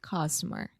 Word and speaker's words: customer: I said that right, customer. Okay, again, you did not say it right. This is o som do schwa. Really relax and say customer.